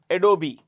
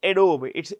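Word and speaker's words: Adobe: Naran uh president of adob a o b e how do we pronounce it a d o b e the E is pronounced it's not adob it's adob okay adobi Sund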